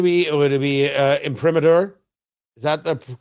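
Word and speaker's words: imprimatur: Would it be uh imper? Is that the correct pronunciation? Hold on. Let me see if I can get the correct pronunciation here. Impromater.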